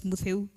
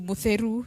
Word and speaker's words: Mutheu: My name at that particular time was Mutheu. And I knew Kamba very well. That was my first language. But when I went to Meru, people are mispronouncing my name to Mutheru something, you know.